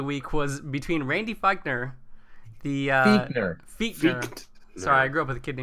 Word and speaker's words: Fichtner: But the AFC North Offensive Player of the Week was between Randy Fichtner, Fichtner. Sorry, I grew up with a kid named Fichtner that's spelled the same way.